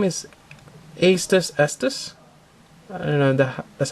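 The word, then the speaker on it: Aestus Estus: The name is Astus Estus. I don't know, that's how you pronounce it. It's kind of like you're saying it twice, but the first, what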